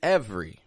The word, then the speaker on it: every: with is this word every Every Which again we're dropping that E from the middle of and we're just giving it a quick two- syllable sound every now repeat back